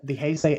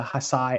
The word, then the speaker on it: Heisei: I still have friends who like to call the Heisei era the Hasai era.